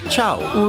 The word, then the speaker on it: Ciao: Oh, and it's not Ciao, it's pronounced Chow.